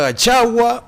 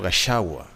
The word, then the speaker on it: Gachagua: Headline ya The Daily Nation igeko tebanga Gachagua versus Karua. Is it Gachagua or Gashawa? So long as kuna CH unaweza muita Gachagua, Gashawa. Okay, Gachagua versus Karua, right, depending on how you want to pronounce it.